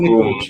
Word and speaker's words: Nikolić: Is it the right way to pronounce it? It's Who Nikolić, yeah.